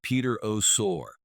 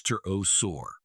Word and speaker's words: pterosaur: First up, the Peter Our ouch, that's almost like calling a T-Rex a T-Rex orus.